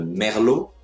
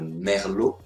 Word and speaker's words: merlot: ligoter la ligoter le chardonnay le chardonnay le merlot le merlot le muscat le muscat le pinot noir le